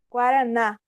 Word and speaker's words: guaraná: Então, por exemplo, Guaraná. O na é o mais forte.